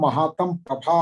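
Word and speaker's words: महातमःप्रभा: महातमः प्रभा का उच्चारण नहीं आ पाया। तमः प्रभा आपके ग्रंथ में विसर्ग लगी है कि नहीं?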